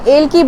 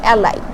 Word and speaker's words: Ailke: কোম্পানির সম্বন্ধে জানে না, এটা কিন্তু এলকি লেখা দেখতেছেন, AILKE। এটাকে লিখতে গেলে এলকি বলে, বাট এটা প্রোনাউন্সে আমরা বলি অ্যালাইক।